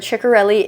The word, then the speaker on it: Ciccarelli: And she did confirm that Ciccarelli is the right way to say her name, but it's one of those things because so many people say ciccarelli that she just accepts everything at this point.